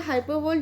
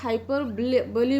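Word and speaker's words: hyperbole: कई बार इसको हाइपरबोली बोला जाता है, हाइपरबोली. What हाइपरबोली वॉज यूज इन the pome, but both pronunciation are correct. आप इसको हाइपरबोल भी बोल सकते हैं और हाइपरबोली भी बोल सकते हैं.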